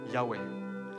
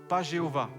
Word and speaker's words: Yahweh: Yahweh. Pourquoi Yahweh est la traduction la plus possible et la prononciation la plus possible? Déjà, pas Jéhovah.